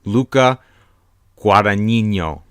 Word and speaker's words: Luca Guadagnino: try and my best to say it properly Luca Guadagnino the director of call me by her name